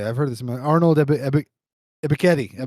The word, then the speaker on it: Ebiketie: Arnold Ebiketie. Yeah, Ebiketie.